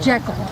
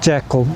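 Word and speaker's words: Jekyll: It's like Jackal. Yeah, Mr. I think she did pronounce it Jackal.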